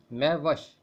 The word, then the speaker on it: مہوش: آپ کی سلامتی ہو۔ میوش فارسی زبان کا لفظ ہے اور اس کا درست تلفظ ہے میوش۔ یہ دو الفاظ کا